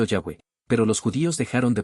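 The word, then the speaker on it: Yahweh: La pronunciación original se ha perdido con el tiempo. Algunos eruditos creen que podría haber sido Yahweé, pero los judíos dejaron de pronunciar los siglos atrás como acto de reverencia.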